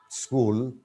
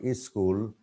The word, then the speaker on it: school: Now let me just pronounce the words: village, college, change, charge, judge, jam, school. But many people pronounce, Bengali speaking people pronounce is school. It's not is school.